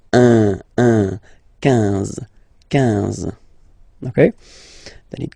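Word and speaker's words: onze: 11, okay, so O plus N give you the sound on, 11, 11, okay, final E doesn't exist phonetically, 11, okay, 12, 12,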